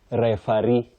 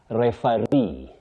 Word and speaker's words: referee: Well, many people innocently say referee. Referee or ee. You say referee. Refa then re, you have that stress.